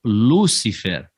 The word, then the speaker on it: Lúcifer: Mas se você pronunciou como Lucifer, tá vendo? Não é um Lúcifer, e sim Lucifer, a tônica sendo a última, ele vai virar Luciferes ou Luciferes, ok?